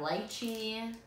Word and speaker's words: lychee: market but so you have light sheen or lychee I say lychee but on that and